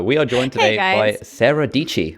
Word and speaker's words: Dietschy: are joined today Sara dici which famously rhymes with peachy and Sara is an